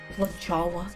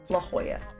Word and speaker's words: La Jolla: La Jolla? No. La Jolla. I do know how to say it.